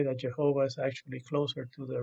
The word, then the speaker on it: Jehovah: four Hebrew letters of his name, which we pronounce as Jehovah. Some people have all kinds of other pronunciations for that, but some of the Hebrew scholars that I've talked to say that Jehovah is actually closer to the real thing than